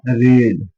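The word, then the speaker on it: read: पढ़ने की first form होती है रीड, सेकंड फॉर्म रेड, और थर्ड फॉर्म भी रेड। अब ये रीड स्पेलिंग सेम है, थोड़ा सा बोलने का फर्क। रीड रेड रेड, ठीक है, सेम स्पेलिंग है।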